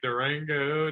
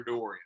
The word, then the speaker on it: Dorian: But all through high school, like Durango, Dorito. Dora, Dory. I mean, any D you can think of. It's never Dorian. It was never that.